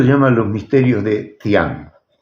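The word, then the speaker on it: Dzyan: El libro se llama Los misterios de Tian. Y te lo cuento porque es muy elocuente. ¿Cómo se escribe Tian?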